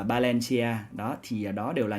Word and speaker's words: Valencia: Ví dụ như là các bạn thấy trong tiếng Tây Ban Nha những cái từ mà bắt đầu bằng chữ V á, thì được ra đọc nó là chữ B. Đó, ví dụ là Valencia thì phải đọc là Valencia.